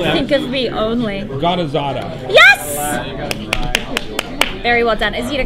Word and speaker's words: Ghanizada: Ghanizada.